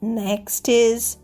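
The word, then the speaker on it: knack: not rope থ দড়িটাকে একটা গিটে বেঁধে দাও next knowledge K এন ও ডবলিউ এডি নলেজ অর্থাৎ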